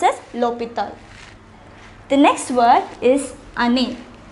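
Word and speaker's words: l'hôpital: with a vowel however it begins with the h which is silent we already learnt what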